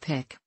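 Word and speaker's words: PICC: central venous catheters the other is the pic pronounced pic line here are five things to know about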